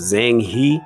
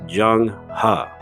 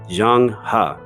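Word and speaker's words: Zheng He: it says it looks like it should be pronounced Zhuang he but it's actually pronounced Jung ha I'll say that again Zhang ha and I'm sure you guys have heard of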